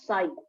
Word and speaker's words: psi: level but this psi this is known as psi where p is silent this is basically called as psi okay p is constant